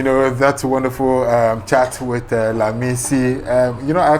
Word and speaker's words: Lamisi: All right, we're still having, you know, that wonderful chat with Lamisi.